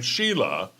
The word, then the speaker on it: Shiela: her name I mean you pronounce her name Sheila right but her the spelling is s h i e l a which spells Ralph I